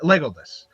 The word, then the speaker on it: Legolas: Lego what? Legolas. like the block, basically.